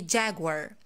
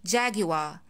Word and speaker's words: Jaguar: This brand has two pronunciations according to the American and the British accent. If you are speaking American, you're gonna say Jaguar, Jaguar, Jaguar.